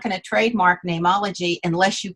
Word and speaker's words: Neimology: i could not trademark nameology because you can't trademark a common word like name and so my dad said spell it like the latin so it's n n-e-i-m and just call it name ology and then we could